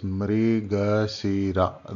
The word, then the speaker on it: Mrigashira: Its pronunciation when you talk about it is Mrigashira. That is how you have to pronounce it.